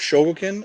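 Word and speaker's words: Chogokin: soul of chogo token it's the soul of shoguken edition this this series that they have they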